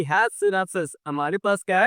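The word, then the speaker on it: Schnapps: जिसको क्या बोलते हैं, सिनेप्सिस बोलते हैं। इसको प्रोनाउंसिएट कैसे करेंगे, देखिए, सिनेप्स, ठीक है, सिनेप्स है ये।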